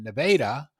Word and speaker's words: Nevada: the border in missouri which is spelled like nevada but you have to say nevada you have to say nevada because they go to the